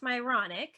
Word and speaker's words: Myronuk: have to say my my last name is actually pronounced myronic so everyone gets to have these myronic experiences just not the way